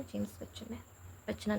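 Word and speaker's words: James Buchanan: अब 1976 में एक जन और आए जिनका नाम था जेम्स बच्चन नहीं, सॉरी, कब से हम इसको जेम्स बच्चन प्रोनाउंस करें, जेम्स बच्चनान।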